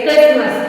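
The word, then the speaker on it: Christmas: हैं फिर दूसरा है सी एच आर आई एच टी एम ए एस क्रिस्मस दोनों ही हमने जनरल वर्ड लिए हैं जो लोग बोलते हैं जनरली वही समझाने के लिए कि क्रिस्मस क्रिस्मस में भी हम टी का प्रन सेशन नहीं करते हैं फिर है ल नंबर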